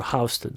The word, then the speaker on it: Houston: And there's many more words, How do you say Houston or Houston? Well, if you're in New York City, it's a regional dialect. It's a Houston Street. But if you're in Texas, it's Houston, the largest city in the state of Texas.